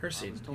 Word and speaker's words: Hircine: Hircine, yep, that's how you say it.